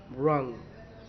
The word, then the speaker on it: wrong: रॉन्ग, रॉन्ग यानी गलत, रॉन्ग, WRONG, रॉन्ग यानी कि गलत, तो रॉन्ग जो है तो W साइलेंट है, तो हम क्या बोलेंगे, रॉन्ग।